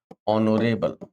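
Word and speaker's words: honourable: एन लगाते, जैसे हमने कहा honest, our, ऑनर, ऑनरेबल, ऑनरेरी, एयर। यस, पढ़िए बच्चों फटाफट। ऑनेस्ट, हाँ इनमें सब में एच साइलेंट होता है बच्चों।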